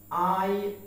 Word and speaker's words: iron: Then the word is iron. আমরা এটাকে কি উচ্চারণ করে থাকি?